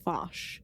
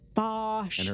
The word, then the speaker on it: Vash: I thought her ethics were as questionable as that of Vosh.